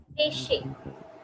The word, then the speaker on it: déchets: Ne jette pas de Déchets. déchets. The EZ का sound is like pronunciation is A.